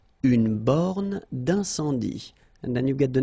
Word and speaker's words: borne d'incendie: Une borne d'incendie. Okay, final E here not pronounced, final E here not pronounced. Une borne d'incendie. And then you get the nasal. Un, en. Incendie. Une borne d'incendie.